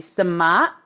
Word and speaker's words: sumac: So it's spelled Sumac. Sumac is what it looks like, and the pronunciation in Arabic would be Samat, and it's a lemony, tangy.